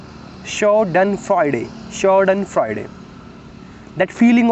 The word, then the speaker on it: Schadenfreude: shadane meaning harm and Friday meaning Joy it's pronounced show done Friday short and Friday that feeling of pleasure you